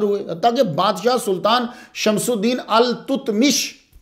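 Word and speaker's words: ایلتتمش: ताकि बादशाह सुल्तान शमसुद्दीन अल तुतमिश, तो ये असल प्रोनाउंसिएशन अल-तुतमिश है, बाकी आपकी मर्जी, आप जो मर्जी पढ़ें।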